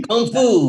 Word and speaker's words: Kung Fu: influenced some of the you say the Kung Fu with a G styles. Which one? Kung Fu. You said it with with a G. Kung Fu. That's how the it's proper really said, bro. No. That's how it's really said.